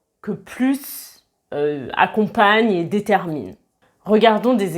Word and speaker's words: plus: Comme je vous l'ai expliqué dans la vidéo sur la liaison, quand on fait la liaison avec un S, on prononce le son Z. Donc, avec un adjectif commençant par une voyelle, on prononce plus.